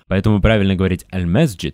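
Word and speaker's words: المسجد: That's why it's correct to say Al-masjid. Because the word starts with the lunar letter.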